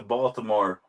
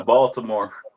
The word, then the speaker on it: Baltimore: Baltimore? Yeah. Yo, cuz when you're in the city, we don't pronounce the T, but everybody else does. Say it. Baltimore. Baltimore.